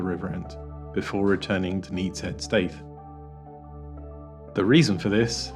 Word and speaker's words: Neatishead: Hana and today we are in Norfolk at nettis head St to paddle on the Norfolk broads here's